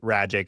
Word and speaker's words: Rajic: Rajic. It rhymes with magic.